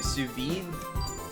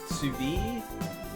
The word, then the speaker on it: sous vide: I more than likely pronounce it incorrectly. Sous vide? Sous vide?